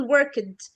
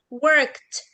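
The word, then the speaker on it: worked: ما بين التو كونسون فبنقول وركد او بننطق كل حاجه بنشوفها لا احنا بنقول وركت وكمان مش بس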